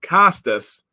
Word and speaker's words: Costas: It's pronounced Costas, not the O.